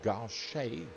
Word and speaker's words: Gauche: The double Gauche, G-A-U-C-H-E is the way that it's spelt.